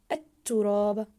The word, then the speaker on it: التراب: كلمه ليقلب الكلمه الاخرى التراب التراب ممتاز ضاعفنا حرف التاء في كلمه التراب لماذا؟ لم نلفظ حرف اللام في كلمه التراب لان اللام هنا لام شمسيه تكتب ولا تلفظ ويرش ويرش ممتاز حرف